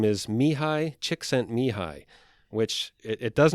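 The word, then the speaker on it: Csikszentmihalyi: everyday life and the author's name name is Mii chicksen mihi which it it does not look like that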